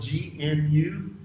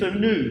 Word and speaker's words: gnu: not news everybody say that animal that has a great big head that's spelled g-n-u on the serengeti place you know that animal saves say gnu no it's a new that's its name but this is british english so it's not new year it's new year